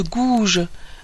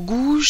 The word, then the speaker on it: Gouges: dès lors Olympe de gouge alors gouge cette fois-ci ça s'écrit g o u g e s je pense que là